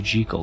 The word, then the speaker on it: Jekyll: Jekyll, by the way, was originally Jekyll. Dr. Jekyll and Mr. Hyde. That was the pronunciation, but okay.